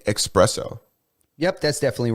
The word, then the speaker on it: espresso: I know there's no X in it, It's but- espresso.